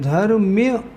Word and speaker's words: धर्म्य: मान लो धर्म ध्यान सही सही शब्द है धर्म्य धर्म्य ध्यान तो बोलना कैसे चाहिए आर रौद्र धर्म्य शुक्ल ऐसे इसका सही उच्चारण होता है उच्चारण में तो